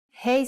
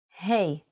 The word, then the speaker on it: ה: Hey sound is Ha, but it can also sound like Ah. You will see how it changes in a second. Let's first write it in handwriting. Hey.